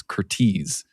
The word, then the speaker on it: Curtiz: Curtis is is Hungarian American. That's why it's pronounced that way because I was I couldn't remember and I called him Curtis for years. It's Curtis.